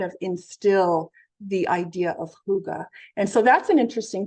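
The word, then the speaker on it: hygge: you may have heard of it it's called Huga but it's spelled h y g g and Denmark ranks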